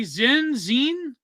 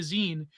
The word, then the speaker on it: zine: Why, you can't say zine? How do you say it? It's Zin. I said zine. Oh, I don't know. I say zine like zine, like a magazine, like a zine.